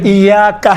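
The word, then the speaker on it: إِيَّاكَ: اس میں آپ توجہ، ایاکا ہے، ایاکا۔ اب یہاں پر ایاکا میں یہ کون سا حرکت ہے؟ چھوٹے حرکات ہیں یا بڑے حرکات میں سے ہیں؟ چھوٹا۔ آپ دیکھیں تلفظ کرتے وقت انشاءاللہ تعالیٰ یہ ملحوظ نظر رکھیں، ایاکا نعبد و ایاکا، کا نہیں ہے، کا نہیں ہے، ایاکا الگ ہے، آپ، نعبد ہم آپ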